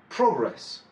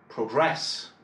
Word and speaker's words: progress: Si c'est un nom, un adjectif ou quoi que ce soit d'autre, l'accent va être porté sur la première syllabe.